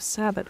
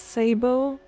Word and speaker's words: sabot: nitane also apparently it's sabot rounds instead of sabbat rounds and I just can't take that seriously. It's Sabbo.